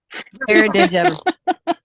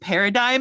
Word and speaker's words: paradigm: is very very wrong paradig oh yes that exact word Paradigm I actually got um a a note about that from the first book that I did and he's like it's pronounced Paradigm and I'm like I